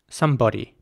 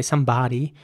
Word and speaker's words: somebody: o sound body somebody in American English it would be more like somebody now not everyone would pronounce it that way once again okay not everyone would say somebody where the O actually sounds more like an R sound somebody but many people in America do this here's an example of